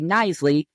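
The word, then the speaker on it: Knisley: And I say Nisley. The K is silent.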